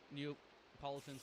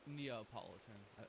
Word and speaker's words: Neapolitan: Or is it Wait, is it Neapolitan ice cream sandwich? Neopolitan ice cream. And we're doing sandwich as well. Oh, Neapolitan. I'm pronouncing that wrong.